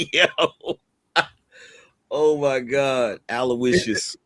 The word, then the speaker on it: Aloysius: It's pronounced all you wishes, but it's kind of spelled like all you wish.